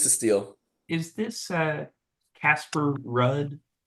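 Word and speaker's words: Ruud: Is this Casper Rudd? No, he's like Norwegian. Oh, of course. My bad. It's pronounced Hood.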